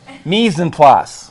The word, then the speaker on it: mise en place: Mise en place. Oh, I couldn't pronounce it.